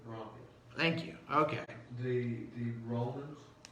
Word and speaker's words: rhomphaia: It's actually pronounced Rompia. Romphaia? Rompia.